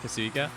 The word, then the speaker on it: Kasuga: Kasuga. Hard G. Ga.